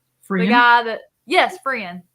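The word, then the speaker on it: F'ryan: The guy that, yes, Frian. Okay, the T is silent.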